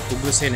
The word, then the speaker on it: उग्रसेन: बहुत सारे लोग इसे अग्रसेन बोलते हैं मुझे नहीं पता क्यों बोलते हैं लेकिन इसका जो ओरिजिनल प्रोनाउंसिएशन है गाइस वो उग्रसेन है. दोनों तरफ इंग्लिश में और हिंदी में दोनों तरफ ये उग्रसेन ही है.